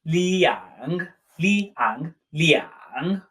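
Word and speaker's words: 两: our sentences it's pronounced Liang Liang Liang again with the dipping tongue Lea hunk Lea UNK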